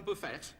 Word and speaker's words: buffet: excuse me sorry uh is that how you say it Buffet rather than Buffet oh I didn't realize the tea was silent it isn't the way